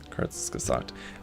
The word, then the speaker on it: Kurzgesagt: Pronounced like Kurzgesagt. Okay. Kurzgesagt.